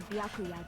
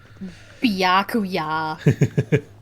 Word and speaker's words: Byakuya: They say it like there's an H at the end of his name. Yeah. Byakuya.